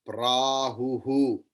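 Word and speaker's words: प्राहुः: Visarga's pronunciation is like ha, and that ha, how it will be pronounced, as it is preceded by the vowel. Here the preceding vowel is u, that is why it will be hu.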